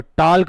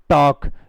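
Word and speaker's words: talk: कोई टॉल्क पढ़ता है, कोई टॉक पढ़ता है, कोई क्या पढ़ता है, कोई कैसे प्रोनाउंसिएशन करता है इसका? लेकिन बेटा टॉक टॉक इसमें भी एल साइलेंट रहता है।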